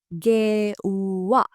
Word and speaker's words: ගෙව්වා: The past tense is ගෙව්වා. ගෙව්වා. ගෙව්වා, paid. Make sure to pronounce the w sound as a long sound.